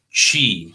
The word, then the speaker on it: qi: the word she okay so she pronounced uh you know it sounds like the uh the word is q-i that's the way i like to spell it that's the chinese way uh some people spell